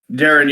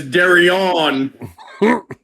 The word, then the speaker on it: Darren: Torito hit Xavier Woods and freaking Big E freaking did a backsplash on Darren Young. Yeah, the announcer mispronounced Darren Young as Darion.